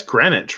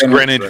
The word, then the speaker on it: Greenwich: restaurant and Greenwich Greenwich Village really yeah it's pronounced that's Greenwich right in that gremlin its Greenwich Village in New York yes so not only